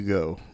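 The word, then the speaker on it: Geaux: Well, hey, there which by the way is spelled G E A UX, not GO.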